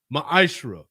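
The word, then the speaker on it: מעשר: Means 10th in the Hebrew and is pronounced ma'ashra.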